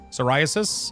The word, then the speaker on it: psoriasis: Psoriasis. Yeah. I mean that's how it's pronounced in English even though it's not pron it's not uh spelled like that whatsoever. But that's that's how you pronounce psoriasis.